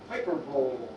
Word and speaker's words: hyperbole: Yeah, but I think it's pronounced hyperbole, Valerie. You're really not that intelligent.